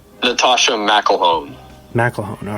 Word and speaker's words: McElhone: McElhone. All right, cool. I would have butchered that last name, so I appreciate the help.